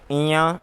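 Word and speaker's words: ञ: चवर्ग का जो 5वां वर्ण है उसका उच्चारण इया होता है, और टवर्ग का जो 5माक्षर है उसका उच्चारण अणय होता है।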